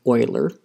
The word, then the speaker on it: Euler: how to say this i do know that this guy's name is leonard oiler and so it's oilurian as i believe how it's said but i will struggle